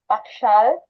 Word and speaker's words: Pakshell: So my last name is pronounced Pakshal.